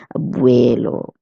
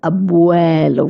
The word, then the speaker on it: abuelo: Most people would have the tendency of pronouncing this word as abuelo. But it's abuelo. We pronounce it nice and open mouth. Abuuelo.